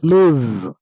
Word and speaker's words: lose: Come to the next one, lose with single O. That is Z sound at the end of the word. That is lose with single O, meaning